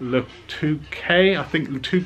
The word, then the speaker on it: Le Touquet: We're going down to the beach races at Le Touquet, that's how you pronounce it, on the Normandy North Coast, not